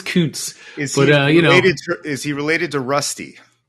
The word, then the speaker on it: Kuntz: And then they took Zach Kuntz, however you decide you want to pronounce it. I was waiting for you to get to that one. Yes. And he was the number 1. You went with the soft U to start. Good job.